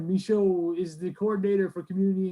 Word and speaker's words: Michaud: And how about the Michaud?